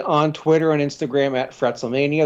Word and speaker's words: FretzleMania: You can follow me on Twitter and Instagram at FretzleMania. That's FRETZLE Mania. My podcast... yeah, the proper pronunciation, by the way.